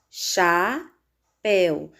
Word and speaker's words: chapéu: Na palavra chapéu, nós temos chapéu. Sílaba mais forte, péu. Se a sílaba tônica é péu, terminada em ditongo el, essa palavra deve ser acentuada.